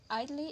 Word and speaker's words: idly: Note that adjectives such as comfortable and idle, which have a syllabic L as in idle, will lose a syllable when "ly" is added. Idly is pronounced idly.